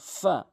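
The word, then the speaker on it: ف: এরপর আসুন ফা। ফা ফা অর্থাৎ উপরে নিচের ঠোঁটের পেট, উপরের দাঁতগুলো নিচের ঠোঁট দিয়ে রাখবেন। ফা ফা এভাবে উচ্চারণ করবেন।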